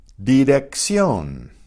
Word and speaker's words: dirección: So the first C is pronounced as a K. The second one is pronounced as an S.